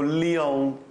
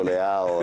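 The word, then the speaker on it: Leão: telecronaca di Mauro Suma si avrà pronunciato Lion anziché leao Ah no no no no io lo pronuncio leao e so come la qual è la pronuncia secondo massimo per carità è giusta è giusta Quella che dice lui ma io sono io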